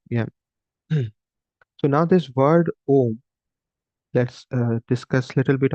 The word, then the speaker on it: Om: combination of letters like if you write in English it's said o m but when we pronounce literally is like a u m right so this is